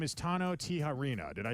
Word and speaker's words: Tijerina: of the county and your name is Tano Tiharena.